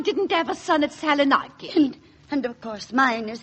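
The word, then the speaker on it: Salonika: have a son at Saloniki. And of course, mine is fighting in France. Oh, really, Mrs. Dowie? If you'll excuse me, Mrs. Twimley, the correct pronunciation is Saloniki.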